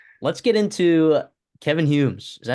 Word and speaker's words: Kevyn Humes: let's get into Kevin Humes. Is that how you pronounce it, Christopher?